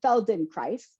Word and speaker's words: Feldenkrais: it is the name Feld in Christ what did someone said it rhymes with Paradise but more shaped Alden